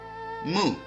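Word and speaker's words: 木: Now, let's take a look at the pronunciation. The 5 faces are Mu, or wood, Huo, or fire, Tu, earth, Ting, metal, and Shui, or water.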